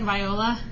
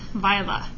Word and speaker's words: Viola: Yes, it looks like Viola. Nope, it is pronounced Viola.